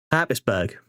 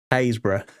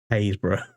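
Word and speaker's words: Happisburgh: Most people go Habisburg. That's how you pronounce that. Hisburg. No, no, no, no, no. That is pronounced Hbra.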